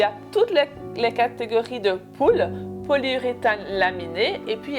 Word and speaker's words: PUL: Alors là, je vais vous présenter les culottes en poule. Donc, poule, c'est une sorte de gros plastique. Donc, polyuréthane laminé. Sur les sites, vous allez voir que ça s'écrit PUL. Donc, ça, c'est toutes ces culottes-ci.